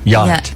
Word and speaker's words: yacht: be spelled yot t yacht yeah but it's not it's got the C and the H in it why are they in there oh okay I don't